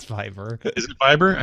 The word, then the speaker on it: Viber: Camp inhabitants use phones to connect to the Wi-Fi and use WhatsApp, Viper, or Viber rather, and the like. It's Viber.